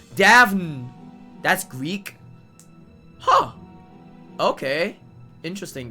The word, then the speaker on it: Daphne: Oh yeah, it's Daphne. That's Greek? Huh. Okay. Interesting then. But yeah, that's what, like, one name that I remembered that has like an NE at the back that just goes knee.